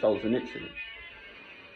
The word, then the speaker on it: Solzhenitsyn: There are 2 books by Solzhenitsyn, the proper way to pronounce his name, Solzhenitsyn.